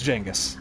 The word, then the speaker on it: Genghis: Yeah, you were asking about the pronunciation of Genghis Khan, and it's just, after playing this, you especially learn, like, yeah, it's Genghis. I always heard it as Genghis, my bad.